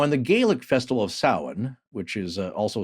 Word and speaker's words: Samhain: I'm working on getting him his own social security number, but it's spelled Samhain, but it's pronounced Samhain.